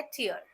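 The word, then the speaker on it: tear: हमारे जो आंखों से जनरली निकलते हैं उसे प्रोनाउंस करने का तरीका है टियर जैसे कि फियर ओके जैसे कि उसने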